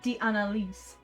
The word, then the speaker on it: d'Analyse: Sorry, I don't like how she said d'analyse. It's Oratrice Mécanique d'Analyse Cardinal. You don't pronounce that second A.